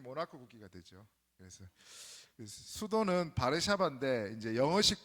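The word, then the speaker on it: Warszawa: 그래서 수도는 바르샤바인데 이제 영어식 발음은 뭐냐면은 W를 영어식을 이제 우로 발음하잖아요.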